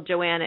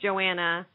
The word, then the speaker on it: Johanna: so much talk um about how to pronounce Joanna's name we're all saying Joanna I know there are a lot of people out there that say Johanna I watched an interview